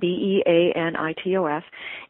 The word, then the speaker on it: Beanitos: And in one of them, I swapped out regular potato chips for something called Benitos. Mm-hmm. It's like spelled like a bean, Beanitos.